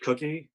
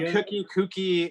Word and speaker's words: Kooky: Well, Kooky, it works both ways. Okay. I pronounce it Cookie like a cookie, but Kooky, but it's spelled like that as well. So, yeah, either way it works.